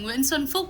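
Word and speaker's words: Xuân Phúc: K are not pronounced the K in the end is not pronounced as K but as something like that SW swan all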